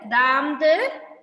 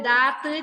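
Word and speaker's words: दाँत: ദാംത് തിത്തലിയാം അംസിന ചാന്ദ് ഇങ്ങനെയാണ് വായിക്കുന്നത് ഒരു ആം എന്നുള്ള ഒരു പ്രൊനൗൺസ് ആണ് വരുന്നത് അവിടെ ആം അം എന്നുള്ള ഒരു നമ്മൾ പറയുമ്പോൾ ഒരു മ് എന്നുള്ള ഒരു ഇത് ഉച്ചാരണം വരും അതിനകത്ത് അല്ലാതെ ദാത്ത് ചാത്ത് എന്നൊന്നുമല്ല വായിക്കേണ്ടത് ആം ഖക്ക് ദാംത് പിത്തലിയാം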